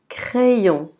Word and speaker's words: crayon: Dans ce cas-là, C va être prononcé comme que. Que. Donc on va dire crayon. Crayon. Remarquez, CR, on va dire cre. Cre. Donc crayon.